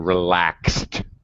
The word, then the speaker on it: relaxed: also, pronunciation relaxed. T sound relaxed. Relaxed. Yeah, no extra syllable.